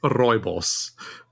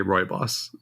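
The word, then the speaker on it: rooibos: are you saying it roy boss well technically it's roibos but we just say roy boss yeah i like ultra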